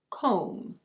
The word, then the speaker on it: comb: In American English this is: comb. Comb.